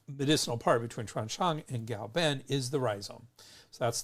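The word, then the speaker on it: 藁本: Now everyone's settled on pinyin, but in Wade Giles, K is pronounced with a G. So Gao-ben, even though it's spelled K-A-O, it's still pronounced Gao Ben.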